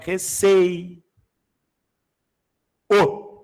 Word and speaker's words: receio: Recei. O o não é pronunciado de forma tônica. É. O o tem som fraco de U. Eu vou ler receio. Eu leio receio, não é?